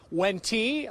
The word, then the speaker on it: Wente: how to pronounce it, you see it W-E-N-T-E. It's Wenti, like in venti coffee.